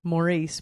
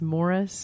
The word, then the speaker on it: Maurice: I want to say Maurice, but it's Morris in Maryland.